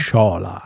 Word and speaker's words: Sciola: How do you pronounce Sciola? Sciola.